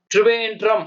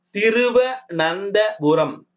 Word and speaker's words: திருவனந்தபுரம்: திருவேன்றம் அப்படி சொல்லக்கூடாதுங்க. அது திருவனந்தபுரம்.